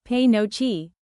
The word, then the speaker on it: penuche: What exactly is pinucci fudge? Pronounced p no chi, this fudge is made with brown sugar, butter, milk, and vanilla.